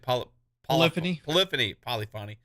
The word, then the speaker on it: Polyphony: Like, it's just like, man, polyphony, how do you say it? Polyphony.